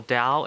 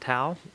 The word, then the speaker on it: dao: chinese symbol that's cool dao is a form of chinese buddhism guys and oh i just love it it's spelled t-a-o but it could also be spelled d-a-o and it's spelled dao not tau that's so cool so